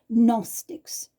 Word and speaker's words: Gnostics: In English, you don't pronounce the letter G, Gnostics.